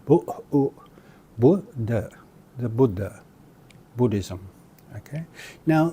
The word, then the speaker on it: Buddha: is often mispronounced as Buddha or Buddhism. Here we've got a case of the short U being mispronounced as a long U. So it's actually not Buddha, nor is it Buddhism, it's Buddhism. Buddha, the Buddha, Buddhism.